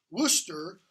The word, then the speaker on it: Worcester: of his people which are in okay so Worcester turn to the dramatis personae that's how it's pronounced by the lights not more chest ER Worcester was Northumberland younger brother Northumberland its Henry Percy